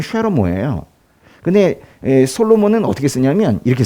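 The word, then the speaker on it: שְׁלֹמֹה: 솔로몬은 원래 히브리어 발음은 쉐로모예요.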